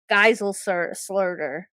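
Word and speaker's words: Geiselsöder: Guysel Slurder.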